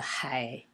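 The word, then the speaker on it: 海: Hai is pronounced in the third tone, and O is in the first tone, O.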